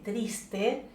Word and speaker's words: Triste: ugarte esta pieza llamada triste o trist si la pronunciamos en francés fue publicada en la